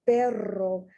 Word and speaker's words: perro: the one with the two ares perro that means dog the one with the one r pero that means but but you don't understand